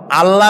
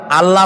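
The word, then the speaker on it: الله: কি গুণাবলীতে বিশ্বাস আল্লাহর নাম আল্লাহ বলেন তো আল্লাহ নয় কিন্তু আল্লাহ হচ্ছে অশুদ্ধ শুদ্ধ হচ্ছে আল্লাহ বলার সময় মুখটা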